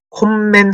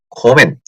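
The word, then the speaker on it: kommen: 콤멘 하지 않고 코멘 어떻게? 코멘 하지 않습니다. 코멘 큐는 코멘 요렇게만 하시면 된다는 거 하고 그쵸.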